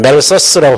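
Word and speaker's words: 맬서스: 그 사람은 인구론의 저자 멜더스라는 사람. 요즘 멜서스라고 발음하기도 하는데 인구는 기하급수적으로 증가하고 식량은 산술급수적으로 증가하니까 산화 제한을 하지 않으면 지구는 멸망할 거다 이런 예측을 했던 사람이에요.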